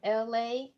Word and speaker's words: Elay: So, be it as it may, this is LA, pronounced like LA, like the city.